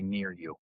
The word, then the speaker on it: NearYou: NearYou, NIR-YU, phonetically. For U.S. folks, maybe it's not second nature, but phonetically it'd be NearYou.